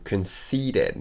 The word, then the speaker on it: conceited: Et regarde la prononciation, conceited. Donc on prononce comme s'il n'y avait pas de E, et c'est un I long.